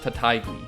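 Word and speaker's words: Taitague: from the united states last name is pronounced tatay so apparently this guy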